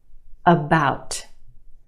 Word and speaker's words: about: Okay, we have two syllables in that word. The second syllable is emphasized or stressed. The ow sound is stretched, about. The first syllable is your schwa, about. It's not about, it's about that.